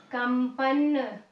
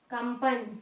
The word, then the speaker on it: कंपन: तो यहाँ पे अगर इसके पहले किसी वर्ण में हमने अनुस्वार, हमने ये बिंदु लगाया है, तो उस बिंदु का उच्चारण हम म की भांति करेंगे, अंबर, कंपन, कंपन, ठीक है, या फिर आरंभ, ठीक है ना, इस तरीके से इनको लिखा जाता है।